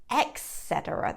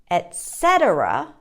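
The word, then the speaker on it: et cetera: in pronouncing it like etc that is not correct don't do that so the correct pronunciation is etc syllable stresses on the second syllable etc or etc practice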